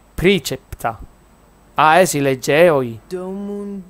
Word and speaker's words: praecepta: A parte che è latino, perché non è pre, è praecepta, quindi è precepta.